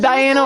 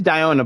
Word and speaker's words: Diona: good as saying like what did Diana or is it no it's Diana but like it's diona but why is it diona yeah that's sort of